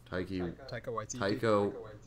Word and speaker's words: Taika Waititi: Taika Waititi. Yeah. Like the Nicki Minaj song.